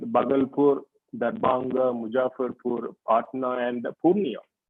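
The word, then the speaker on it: Purnea: Dhbanga Mujafur Patner and Punea it rhymes with Cornnea so Chandigar you have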